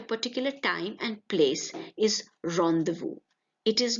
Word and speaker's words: rendezvous: An arrangement to meet somebody at a particular time and place is rendezvous. It is not rendezvous, but rendezvous.